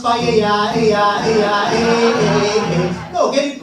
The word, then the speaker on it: paella: Ella, ella, It's pronounced paella, No, get it right.